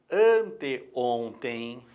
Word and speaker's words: anteontem: Quando colocamos, por exemplo, anteontem, é antes de ontem. Claro que na pronúncia, esse E sai com som de I, ok? Anteontem. Mas na hora de grafar tem que ser o E.